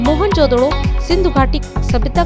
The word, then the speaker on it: मोहनजोदड़ो: से प्राप्त हुई है मोहनजोदड़ो सिंधु घाटी सभ्यता का सबसे परिपक्व था मोहनजोदड़ो को बेहद उन्नत योजना के तहत बसाया गया था मोहनजोदड़ो शब्द का सही उच्चारण है मोहन जोदड़ो जिसका सिंधी भाषा में